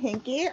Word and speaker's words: Hinke: Now, do I say your last name, Hink? Hinke. Okay. Yeah.